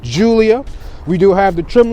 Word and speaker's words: Giulia: of stuff we have the name pronounced julia we do have the